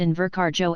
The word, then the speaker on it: Invercargill: part of new zealand and the locals pronounced in verkharjo as invercargill it seemed to be a scottish pronunciation i went to the